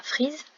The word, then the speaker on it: frise: La frise, ici le son Z se construit avec un S puisqu'il est entre deux voyelles, donc il se prononce Z.